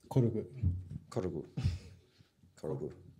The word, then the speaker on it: Korg: How do you pronounce it properly? Korgu.